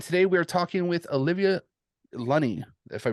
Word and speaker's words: Olivia Lunny: hidden beats and today we are talking with Olivia lunny if I pronounce that right you bet thank you yes